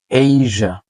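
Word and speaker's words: Asia: অনেকে বলি laser laser laser না লেজা লেজা এইজা এইজা আমরা বলি এশিয়া বাট হচ্ছে এইজা মালয়েশিয়া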